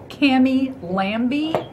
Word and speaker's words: Lambie: says a B right there. Yeah, but lamb, the B is silent. Cammy Lambie.